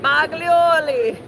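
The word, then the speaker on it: Boglioli: Every you should keep putting an N in there. Oh, I do. I don't know why. Boglioni. Boglioni. See, now I said it right.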